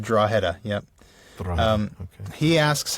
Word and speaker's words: Drogheda: I did ask him how to pronounce it. He said Drogheda, yep.